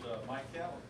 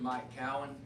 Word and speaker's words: Keown: And it is pronounced Keown. If you're going to talk about me, you need to learn how to pronounce my name. We just tell them this, it's Cal win, and the focus is on the win, because in November we're going